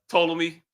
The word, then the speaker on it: Ptolemy: is silent. Ptolemy.